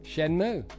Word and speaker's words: Shenmue: How to pronounce Shenmue. Shenmue.